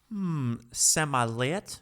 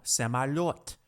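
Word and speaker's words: самолёт: Semalet? No, semalot.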